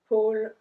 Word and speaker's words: pôle: So because there's an accent circumflex on the O, we pronounce it longer. Le pôle Nord.